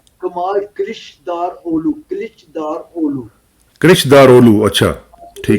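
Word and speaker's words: Kılıçdaroğlu: वो नाम क्योंकि वो है, इंग्लिश में हमसे वो उस तरह प्रोनाउंस नहीं होता ना। हाँ, वो सी के नीचे एक्चुअली नुक्ता होता है, तो जिसकी वजह से प्रॉब्लम पड़ जाती है, हाँ, इसलिए मैं कमाल कृष्णदारोलू।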